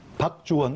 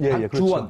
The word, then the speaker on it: 박주원: 박주원, 박주원. 그렇죠.